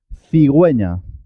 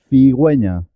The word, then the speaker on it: cigüeña: uv se llama diéresis cuando la uv junto a la e y la g tiene una diéresis la u se se escucha suena en este caso cigüeña cigüeña para agüero pingüino